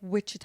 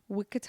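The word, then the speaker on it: Wichita: Like witchah. I want to go to Witchah. Is that how you say it? Wikah.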